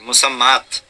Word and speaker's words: মুসাম্মাত: রাখি মুসাম্মা ওটা অবশ্য বানানটা হচ্ছে তা দিয়ে এরকম একটা আলিফ থাকবে তারপর একটা গোল তা থাকবে মুসাম্মাত আরবি বানান হবে মুসাম্মাদ কিন্তু বলার সময় বলা হয় মুসাম্মা যেটাই হোক না কেন